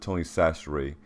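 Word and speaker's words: Tony Chachere's: store across America and you have to pronounce it Tony sasher if you don't we'll know you're not actually from Louisiana Kanye pepper Louisiana cooking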